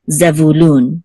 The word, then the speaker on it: Zebulun: The accent is on lun, which is the last syllable. So Zebulun, okay?